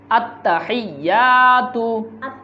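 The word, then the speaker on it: التحيات: আত্তাহিয়াতু, এখানে খেয়াল করুন, আত্তা এখানে কোনো টানটুন নাই। আত্তা আত্তা, হিয়াতু, এর মধ্যে টান আছে। ইয়াতু, আত্তাহিয়াতু, আমার সাথে বলবেন লিল্লাহি, লিল্লাহর মধ্যে কিন্তু টান আছে।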